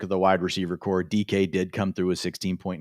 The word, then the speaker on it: Dike: You just said DK, it right.